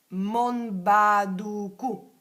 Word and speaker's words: Monbaduku: mentalmente quando mangi è Monbaduku. Monbaduku. Si scrive così. Mentre mangi, sapete quando dite i mantra si attivano le memorie del mantra, no? Mon con la N di Napoli, Monbaduku.